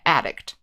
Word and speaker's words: addict: or a video game addict so the verb is addict the stress is on the second syllable and we say addicted